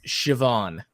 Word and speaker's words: Siobhan: I was very wrong this is an Irish name and it's pronounced Siobhan how I I don't